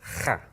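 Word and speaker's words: خاء: Notice what I'm doing is I'm grating with my tongue at the top. Okay, now it works basically the same as the ha. I do the same thing with my mouth, except I'm gonna, this time, use my tongue at the top of the roof of my mouth to make that rattling sound.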